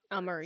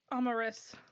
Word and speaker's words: Amaris: I'm changing the pronunciation of my character because everyone just struggles way too much with remembering it. Amaris. So it's Amaris. Amaris.